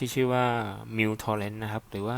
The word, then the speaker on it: µTorrent: แอป ที่ ชื่อ ว่า Mu torent นะ ครับ หรือ ว่า เ เรียก กัน ง่า ก็ U แต่ ตรง นี้ มัน อ่าน ว่า muw อ่า แล้ว แต่ จะ